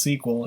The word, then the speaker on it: SQL: segment of the lecture SQL sometimes pronounced sequel is a structured query